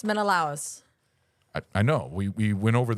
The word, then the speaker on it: Menelaus: Did you get Menelaus? No. No. It's Menelaus.